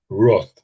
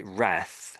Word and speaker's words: wrath: Although the Americans say wrath, I suppose. So you could probably say either. I would say wrath or wrath. Wrath. But I think Brits say wrath.